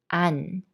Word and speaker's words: 않: And they are both pronounced the same. 안.